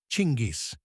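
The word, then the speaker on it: Чингис: If you look at the original Mongolian, the word is chingis, pronounced chingis.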